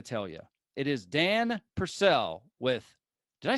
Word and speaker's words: Purcell: i got to tell you it is dan purcell with did i say that right purcell yep you got it get your marriage on